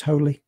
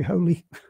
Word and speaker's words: Hole: those that harry hole i think it's pronounced holy but harry holy um but it's spelt whole and so you know